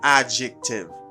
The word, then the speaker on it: adjective: positive adjective positive adjective i don't say adjective because you do not pronounce the d sound you say adjective adjective all right good let's